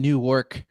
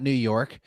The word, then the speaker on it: Newark: This is, I was probably pronouncing, this is happening in Newark, not New York.